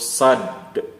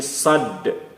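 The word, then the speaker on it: صاد: Kemudian huruf sad, bukan sa, tapi sad. Sad. di akhir bunyi huruf sad ini terdengar ada bunyi huruf dal, sad.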